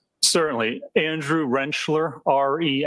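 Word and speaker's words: Rentschler: play through this Dr I think I'm saying it right wrencher wrencher yep just like a tool Wren yep God it looks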